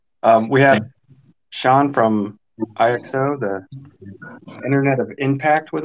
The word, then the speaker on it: IXO: portal sean is it do we call it ixo or ixo what's how are you pronouncing it yeah that's usually the first question question people ask me and it's a good one because you won't forget it it's uh it's exo uh it's not a neologism